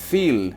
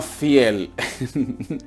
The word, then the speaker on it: viel: Nuestra quinta palabra significa mucho y se lee viel, no fiel.